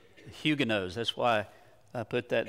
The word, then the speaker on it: Huguenots: board back up all right okay the Huga hugin knots was what we usually say but apparently it should be pronounced or it is pronounced huguenotes huguenotes that's why I put that there for you